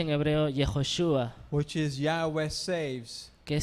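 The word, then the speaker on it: Yehoshua: misma persona o sea que la que se pronuncia en hebreo yehoshúa which is yagües saves que significa salva desde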